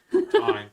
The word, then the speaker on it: thyme: This one is thyme. Oh, thyme. It's thyme. It's thyme. It's thyme. It's not even spelled like that, but that's okay.